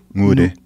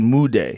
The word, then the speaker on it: Nwude: It's an N, but the pronunciation's a little bit different. Say it again. Nwude. It sounds to me like you're saying Mude.